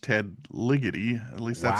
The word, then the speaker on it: Ligety: I do believe it is pronounced Ted Ligety.